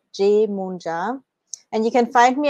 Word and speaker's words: Yemoonyah: is job that's how you pronounce my name jmoon ja and you can find me at spirit guides